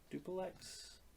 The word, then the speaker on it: Duplex: some underground place and he runs into duplex mm-hmm that's how you pronounce it duplex he's he works for